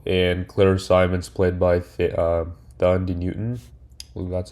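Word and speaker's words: Thandiwe: Um, there was Carlos Santiago played by Selta Melo and Claire Simons played by Dand Newton.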